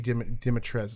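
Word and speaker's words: Dimitrescu: forgotten on but like the cu at the end is not pronounceable it's lady demetres it's like french is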